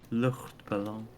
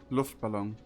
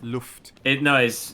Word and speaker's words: Luftballon: Luchtballon. However, if I can pronounce that. Luftballon. Luchtballon. Not Lucht. It's- Luft.